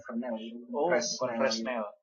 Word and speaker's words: Fresnel: Bacanya Fresnel.